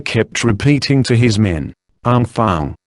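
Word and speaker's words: enfants: that the officer kept repeating to his men aung Fang said in re Irving briskly seizing the opportunity to re-establish himself as a French speaker means children spell dnfnts pronounced arm Fang children said Robinson incense a Elfie looking Lotto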